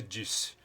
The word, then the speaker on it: Deace: Steve Deace, pronuncia-se Deace.